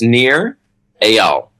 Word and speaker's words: Nir Eyal: and last name sure so it's near Al near et al yeah so I think of it is spelled a-y-a-l that and that would give you the proper pronunciation I'm not probably a